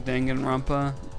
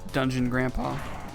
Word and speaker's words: Danganronpa: mems i i think my favorite mispronunciation is calling danganronpa dungeon grandpa that's amazing you know